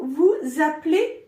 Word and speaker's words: vous appelez: In formal way, we'll ask Vous vous appelez comment? Vous vous appelez comment? There's a link. Vous appelez.